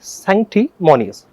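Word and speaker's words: sanctimonious: क्या बोलेंगे संटी मोनिस अगर वर्ड आपको बड़ा लग रहा है कोई बच्चे सोचते हैं सर बहुत बड़ी स्पेलिंग मेरे से बोली नहीं जाएगी कोई बात नहीं सक्ट मोनिस वास बोलो तीन टुकड़ में इसको डिवाइड करना सक्ट मोनिस सक्ट मोनिस जो किसी चीज का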